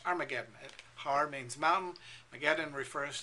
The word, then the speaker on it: Armageddon: the armies together to the place which in Hebrew is called har mageddon we pronounce it in English Armageddon har means Mountain mageddon